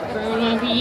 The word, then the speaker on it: Burnaby: Burnaby.